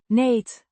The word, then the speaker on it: niet: niet, Means not, pronounced neet, rhyming with. heat, It's an adverb that negates the following word or phrase.